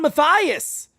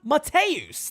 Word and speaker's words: Mateus: So Juan Matthias with a leadoff single. Juan Mateus. Thank you to John Brophy, who knows these players better than anybody, helping me with my pronunciation, okay?